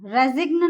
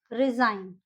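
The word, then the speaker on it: resign: फॉरेन, फॉरेन नहीं बोलेंगे हम, यहाँ क्या प्रोनाउंस करेंगे इसको? फॉरेन। रिजाइन, रेजिग्न नहीं बोलेंगे हम इसको, रिजाइन।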